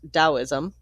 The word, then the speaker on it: Taoism: The Taoism, pronounced Daoism, that developed in ancient China was a combination of philosophy and mystical religion.